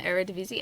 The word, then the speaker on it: Eredivisie: pronounce it? This is not helpful to me, though, in my journey Eredivisie.